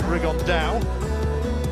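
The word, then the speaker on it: Rigondeaux: And Tete's talked about fighting Rigondo, or as he's correctly pronounced with the Spanish accent, Rigondao.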